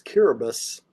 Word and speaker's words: Kiribati: Another place is Kiribati. That's how it's pronounced in the local language.